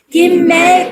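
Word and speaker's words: גימל: 김멜 김멜 김멜네 김멜입니다.네 김멜의 플레임은이 이름 자체가 낙타입니다. 그 낙타 김멜이거든요. 영어로 하면 카멜카멜 발음이 똑같죠. 그죠? 카멜입니다.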